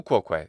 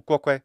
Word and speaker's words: quoque: Tu quoque, fine, except for the extra long o in quoque. Tu quoque would be better, but hey, I'll take it.